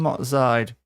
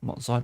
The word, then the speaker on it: Matzide: And Matzide, not Motzide, sure.